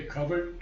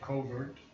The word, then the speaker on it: covert: powerful out of a covered tract of Slumber self this is the British pronunciation in in America we say covert but I believe out